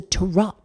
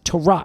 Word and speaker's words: Tarout: I'm not sure, but it appears it's pronounced Tarot. It's spelled Tarout.